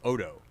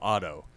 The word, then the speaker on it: Oddo: spelled just like mine his name is paul odo but it's pronounced paul otto and i he said i call my i say my name otto he's like i say my name odo he's like i correct